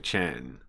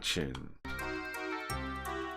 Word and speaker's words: Chen: Now, also his name is Mr. Chen. Um, not Chin, but they're saying the Americans getting his name wrong, right?